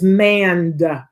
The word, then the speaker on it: mand: want my child to man uh but it's manned with a d on the end m-a-n-d uh